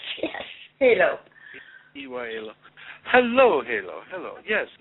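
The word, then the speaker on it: Heylo: This is Halo. Halo? Yeah, H-E-Y-L-O is how it's spelled. Yes, Halo.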